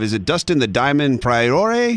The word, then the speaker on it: Poirier: Is it Dustin the Diamond Prior? How do you say his name? Last name. Dustin the Diamond Porier.